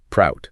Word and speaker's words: PROUT: And just for our listeners, it's pronounced prout.